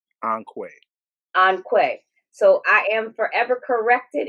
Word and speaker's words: Onque: Onque. So I am forever corrected. It is Onque, and even though they will answer to Onque, I'm going to say it correctly from now on.